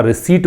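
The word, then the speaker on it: receipt: इसका प्रोनाउंसिएशन याद रखिएगा, रिसीट बोलते हैं इसको।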